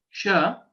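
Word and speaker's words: श: The right way to pronounce sha, sha, the place of origin is similar to that of chakara, cha, sha. It is plain sha, where, for example, we use Shankara, Shiva, and so on.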